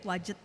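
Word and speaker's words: Wadjet: bernama ada yang disebut ilah wajet ya bacanya begitu ya wajet yang disimbolkan sebagai kobra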